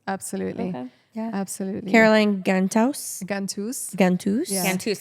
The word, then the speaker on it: Ghantous: I said it incorrectly. Did you say In the Ghantous? beginning. I said Ghantous. Ghantous in the beginning. Yeah, it's So okay. if you want to say it properly, it's Ghantous.